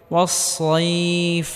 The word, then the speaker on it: والصيف: ওয়াসসাইফ, সদ মোটা করে উচ্চারণ করতে হবে।